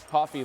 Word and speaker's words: Coffey: Coffey like the drink just not spelled the same.